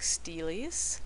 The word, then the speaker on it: stele: And a lot of what we know about life in ancient Mesopotamia is derived from artworks like steles. Let me show you how that's spelled.